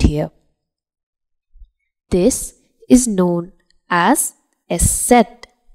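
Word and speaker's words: Eszett: does not complete here this is known as s set s set s set or it is also known as Sha's s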